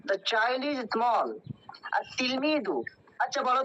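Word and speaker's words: التلميذ: আর তিলমিদু, আচ্ছা বলো তো এখানে আমরা আলিফ লামের কেন উচ্চারণ করছি না, আল তিলমিজু কেন পড়ছি না? Current is a group of Samsia. কোনটা শামসিয়া? Ta. ওকে, হরফে শামসা হলে কি করতে হয়? লামটা পড়তে হয় না, তাই তাসদিদ দিয়ে পড়তে হয়।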